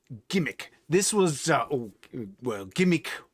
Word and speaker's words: G'MIC: this was uh well gimmick that's how i pronounce it um i don't know if others do it's g apostrophe m-i-c which uh to me g with a apostrophe anything that has a little apostrophe after it if it's a hot makes that sort of a hard letter so it's or would be how i would pronounce it anyhow i was